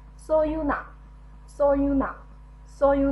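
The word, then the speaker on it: 서유나: n a na，好，连起来 so you na， so you na， so you na，好，这是徐有奈。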